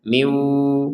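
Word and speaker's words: مِن وَلِيٍّ: Nun sukunnya ini karena ketemu waw dimasukkan kepada huruf waw sehingga dibacanya miu dan disertai dengungan. Nun sukunnya masukkan ke waw dan disertai dengungan. Jadi yang awalnya kita membacanya min, sekarang membacanya miu gitu ya.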